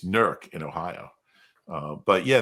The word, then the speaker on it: Newark: actually went to an ad agency up in nerk Ohio NE W RK it's pronounced Newark in Delaware uh an in infestation